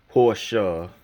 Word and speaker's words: Porsche: of course many in the know who follow Automobiles and stuff automobiles Fanatics know that pertinent Porsche Porsche because that's the German pronunciation design the Volkswagen Beetle